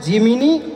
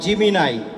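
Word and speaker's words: Gemini: এটা অনেকে প্রোনাউন্স করে জিমিনি অর জিমিনাই।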